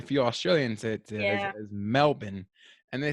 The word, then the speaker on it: Melbourne: I've been corrected by some Australians. It's Melbourne. Yeah, yeah. It's more like Melbourne. Melbourne They don't instead really of pronounce their R's like we do.